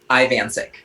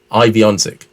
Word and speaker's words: Ivancik: Ivancik. Ivancik. It's I, Van, and Sick. Ivancik.